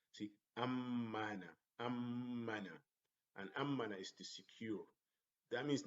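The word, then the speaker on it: أمَّنَ: Amina, amina, amina is to be safe, as opposed to ammana. Ammana, see the pronunciation is different. Ammana. Here, amina, like one word, there is no syllables, only one syllable. Here, ammana, like two syllables. Ammana, as if I am having two M's, but in reality I have one, but the stress on the shadda makes it like two M's.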